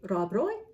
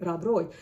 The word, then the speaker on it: Rob Roy: Should I say Rob Roy by Walter Scott? Is that closer to the correct pronunciation in Scotland?